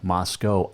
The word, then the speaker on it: Moscow: it in Moscow and it is Moscow Idaho but Moscow Russia remember that okay they're spelled the same pronounce different Moscow Russia Moscow Idaho it rhymes okay so anyway that's